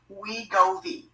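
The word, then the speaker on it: Wegovy: manufactured and sold under a brand name called we govi and that's spelled w-e-g-o-v-y we go v however it's extremely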